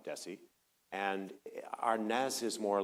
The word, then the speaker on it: Desi: Well, it is more S than Z and Lucy was always very careful to call him Desessie and Ares is more like Ares than Ares.